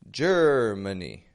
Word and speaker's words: Germany: do you hear there ger Germany well I noticed that Ma a in the middle of the word is not getting a very strong sound is it ger Germany and that sounds like